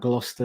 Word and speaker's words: Gloucester: I posted up about Gloucester a lot of people in the states were like how do you say Gloucester oh yeah it's like Glau sister bow sister Shire yeah Gloucester or gloucestershire